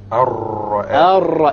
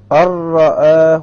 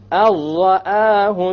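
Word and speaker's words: رَآهُ: So make sure that when you do this idgham, you don't fall into the other mistake of rolling the ra. Okay? Samir, why don't you pronounce it properly? Arra'ahu istaghna. Exactly. Arra'ahu istaghna.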